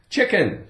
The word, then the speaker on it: chicken: Chicken, chicken.